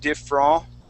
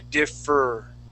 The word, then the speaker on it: differ: of focus for you saying instead of diff raw we want to say differ all right so let